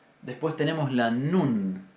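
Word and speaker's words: נון: Después tenemos la nun. Nun es nuestra letra N, sin ninguna diferencia de pronunciación.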